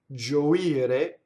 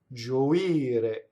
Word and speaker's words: gioire: Gioire, the accent is on the I. Gioire.